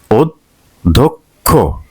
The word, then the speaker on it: অধ্যক্ষ: অক্ষর অক্ষর অধ্যক্ষ তাহলে অর পরে যদি চ ফলা থাকে তাহলে সেই যেই বর্ণের সাথে চ ফলা থাকবে সেই বর্ণের দুইবার উচ্চারণ অর্থাৎ এটা যদি মহাপ্রাণ হয় তাহলে তার আগে অল্পপ্রাণ তারপরে মহাপ্রাণ দেখি মানে ধর আগে দ ছিল এজন্য অধ্যক্ষ অধ্যক্ষ অন্য অন্য অন্য এরপরে